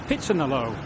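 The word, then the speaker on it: พิษณุโลก: Today I find myself in Pitsanalo, which is spelt Pitsanalok, but is pronounced Pitsanalo.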